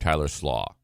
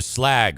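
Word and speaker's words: Slaugh: His name's Tyler Slaw. Like coleslaw. I know that because I said to him, Tyler Slag, right? And he goes, no. It's pronounced slaw. The GH are silent.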